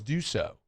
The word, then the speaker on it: Dusault: how do you say your last name? It's Dusault.